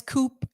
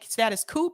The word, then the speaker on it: Status Coup: either party's agenda well said well said status coupe is pronounced coup i've heard people say it both ways eric i've heard people say status coupe i've heard people say status cool i don't